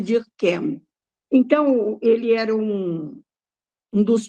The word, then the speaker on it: Durkheim: O Émile, ela cita aí Émile Durkheim, né? Em francês é Ah, eu falei Durkheim. errado, né? Não, você pronunciou em alemão, né? Em francês, porque ele era francês, é Émile Durkheim.